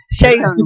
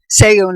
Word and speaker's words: Seiun: Dick Award and Japan's Seiun Award. Am I pronouncing that correct? Seiun Award. Seiun Award.